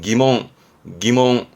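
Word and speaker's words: 疑問: 발음은 기몽.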